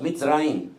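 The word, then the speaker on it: מצרים: El nombre o la palabra o el país de Egipto en hebreo es Mitzrayim.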